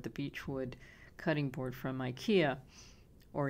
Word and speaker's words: IKEA: beechwood cutting board from IKEA, or IKEA. How do you say it? IKEA? IKEA. When I lived in France, everyone said IKEA. And I think here in the United States we say IKEA, right?